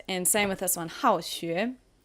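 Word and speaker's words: 好学: All right, and same with this one, 好学. It is fourth tone again, and it means to be studious.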